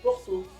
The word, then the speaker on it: Porto: Do Porto. Presta atenção, tem uma diferença importante com relação ao português. Que a sílaba forte no francês é sempre a última. Então, Porto. Porto. O bem mais forte.